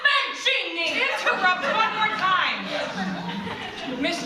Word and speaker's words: Mancini: It's pronounced Mancini!